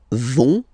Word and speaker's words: vont: So ils vont, final T not pronounced.